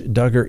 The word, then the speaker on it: Duggar: be happy you did josh duggar that's right the man's name that rhymes with hugger the one that is